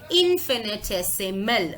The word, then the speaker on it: infinitesimal: Now, if it is very difficult for you to pronounce this word, here is the pronunciation, infinitesimal.